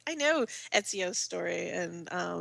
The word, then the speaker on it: Ezio: I know Ezio's story and how it all pans out. That's how you pronounce that.